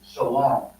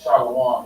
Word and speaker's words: shalom: when you see this it's still pronounced like this shalom shalom you know so this will be Shalom this is Shalom you understand so it's still the same thing you understand like I said if you were pronounce it as shwam it's like you saying pces so when they when